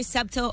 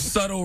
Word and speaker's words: subtle: minutes today not very septile or erog well listen if you want me to pronounce the word subtle right then take the be out hey all